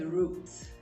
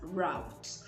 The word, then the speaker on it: root: Because I know some people pronounce this as route, which is not totally incorrect because that's the American pronunciation. But if you're sticking with the British pronunciation, then you would pronounce this as root.